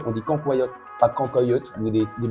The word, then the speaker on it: cancoillotte: Si vous connaissez pas la ccoyote, vous faites une erreur clairement et apprenez à le prononcer. On dit cancoyote, pas cancoyote ou des des mots bizarres comme ça.